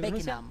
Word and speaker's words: Beckenham: No, Beckingham, no es Beckingham, se Beckenham. Pronuncia Beckenham. Pero se escribe Beckenham, pero se pronuncia Beckenham.